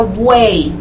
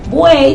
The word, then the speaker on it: buey: Buey también no se separa. Usted dice buey, usted no dice buey. Usted dice buey, en este caso ahí hay triptongo, a pesar de que la I final se escribe con Y.